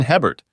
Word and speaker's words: Hebert: "My name is Hebert, pronounced A-Bear in Cajun country.